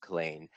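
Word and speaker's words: Culzean: Yes, it's actually pronounced Killeen, in Ayrshire, now owned by the National Trust for Scotland.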